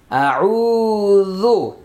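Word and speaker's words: أعوذ: জাল পেশ যু, আউযু, আউযু, আউযু।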